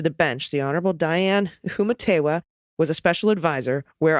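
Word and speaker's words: Humetewa: Before being appointed to the bench, the Honorable Diane Humatewa was a special advisor where I work, and our paths crossed a time or two. Her name is pronounced I am Diane Humitiwa.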